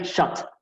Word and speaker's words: shot: Estas dos letras juntas serían como una U, y esta sería shot, ¿no? Como una O bastante abierta, ¿no?